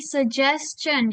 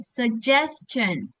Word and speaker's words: suggestion: Jadi ingat teman-teman, ini bacanya bukan suggestion ya, bukan, tapi suggestion. Jadi dia bacanya J, suggestion.